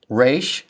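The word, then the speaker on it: ר: Re sounds like the r in run.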